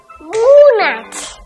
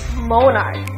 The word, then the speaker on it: Monarch: জুবরান, এটার উচ্চারণ কি? মুনাচ। ও ছোট মানুষ, এরকম ভুল আমরা অনেকেই করে থাকি। এটার রাইট প্রোনাউন্সিয়েশন হচ্ছে মোনার্ক।